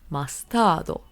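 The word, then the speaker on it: マスタード: And the Japanese pronunciation is mastardo.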